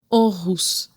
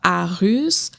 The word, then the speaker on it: Aarhus: Orous, ça se prononce pas à russe, pas rus, c'est prenez le temps d'assimiler l'information et félicitations.